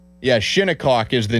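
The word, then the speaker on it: Shinnecock: Uh Windham Clark, he was the US Open winner at Shinikok this weekend. And yes, that is how you pronounce it.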